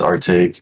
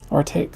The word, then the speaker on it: Artake: How do you pronounce it? It's Artake. Artake.